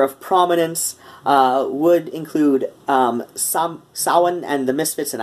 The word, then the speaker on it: Samhain: prominence would include some Sawin and the misfits and I know Glenn dad's like pronounces it Samhain but you know Glenn